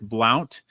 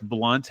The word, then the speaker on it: Blount: The CEO is named Rick Blount uh or Rick Blunt, however you pronounce it. Blu N T. I've seen it pronounced both ways.